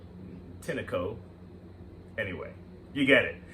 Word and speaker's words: Tineco: for this model inside the tinko a Tango I believe it's tinko the way it's spelled t-i-n-e uh c-o um and then then a company could also mean tinico anyway you get it